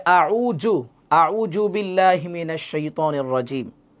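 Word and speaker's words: أعوذ: জাল পেশ জু না, আমরা অনেক সময় এভাবে পড়ি যে আউযু, আউযু বিল্লাহি মিনাশ শাইতানির রাজিম। আউযু হবে না, আউযু। জালের উচ্চারণ খেয়াল করেন।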